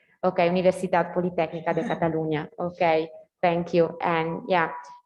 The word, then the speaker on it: Universitat Politècnica de Catalunya: By the way, is the Catalan, Ulises, what's the correct pronunciation? Is the same institutions by Ulises? Yeah, the Universitat Politècnica de Catalunya. Okay, Universitat Politècnica de Catalunya.